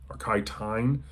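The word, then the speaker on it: Tein: He co-wrote a science fiction book, Saturn Run, with famous photographer Kai Tine. It's spelled C-T-E-I-N, but that's how it's pronounced, apparently.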